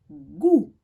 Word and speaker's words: goût: Le goût. Je ne prononce pas le T.